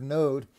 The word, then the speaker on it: Nod: in the land of node uh which is how it's pronounced in the hebrew he dwells in the land of node and builds a city